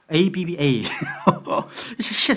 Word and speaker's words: 아빠: 이게 아빠가 그 아빠예요. 발음이 똑같아요. 아빠 ABBA.